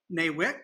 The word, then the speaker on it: NAWIC: So there's 115 chapters in NAWIC, as it's pronounced, that offer education, support, networking, and also help in advancing the careers in construction for women.